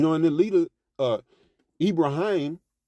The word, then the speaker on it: Ibrahim: And the leader uh Ibraim or Ibrahim Abraham, you know, for those who know Ibraim, how it he pronounces it, you know, he um well, what was I going?